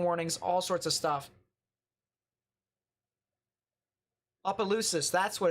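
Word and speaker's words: Asus: uh special Marine warnings all sorts of stuff ausus that's what it's pronounced my fault yeah you missed a lot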